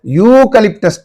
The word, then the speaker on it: eucalyptus: And eucalyptus tree. So again, in this word, E is silent, and we are pronouncing the word from U. U is giving a consonantal sound, and therefore we think